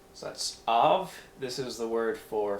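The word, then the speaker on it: אָב: You have the next one, which is av, an aleph with a kametz and a veit. So that's Av.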